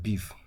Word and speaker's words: BeEF: into particular database so we talking about exploitation we're talking about beef see the way it is spelled we have it pre-installed